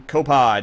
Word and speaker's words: Copod: it's fixed okay let's fire up some copod is that am I saying it right or is it coupons yeah yeah saying it fine okay saying absolutely fine it is a ridiculously